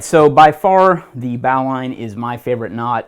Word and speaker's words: bowline: you would say bow so that's why I pronounce it bow line sometimes it's even uh written with two words instead of one though you know kind of popular nomeclature is to say Bolan there's nothing wrong with that just explaining the